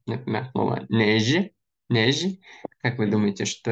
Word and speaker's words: neige: Они все произносятся как Ж. Ж. Ж. Причем вот сами буквы эти не читаются. Например, слово неже.